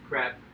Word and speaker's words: CREP: There's an acronym that is pronounced CREP. It's C-R-E-P.